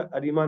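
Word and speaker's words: ARIMA: आई पहले आना चाहिए था, लेकिन इसको प्रोनाउंस अरीमा किया जाता है, तो आई को सेंटर में ले आए थे ताकि इसको प्रोनाउंस करने में आसानी हो जाए।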